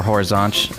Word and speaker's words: Horizonte: of probably sex move similar how you pronounce it or Horizonte as they say there and then I went